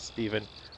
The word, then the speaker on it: Stephen: on the birth certificate but uh no it's Stephen I pronounce it Stephen only mother calls me Stefan um but anyway it's